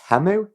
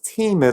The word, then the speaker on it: Temu: the first few weeks I was pronouncing it TAMU and it was only when going on their website and seeing that they've got the pronunciation as Teemo that starts saying Teemo